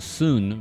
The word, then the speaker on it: Xun: Hello, everyone, and now welcome to a game between, I think his name is pronounced Soon versus Yumiko, here taking place on Northern Isle. We have Soon spawning as the red undead over here on the bottom left-hand side of the map.